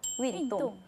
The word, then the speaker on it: 运动: 운동은 중국어로 윈동. 아, 그래요? 완전 비슷하죠? 윈동? 윈동. 저 운동할 때 이기는 거 좋아하거든요. 네. 윈. 맞아. 윈동. 그렇게 외우면 되겠다.